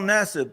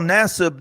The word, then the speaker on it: Nassib: Carl Nassib.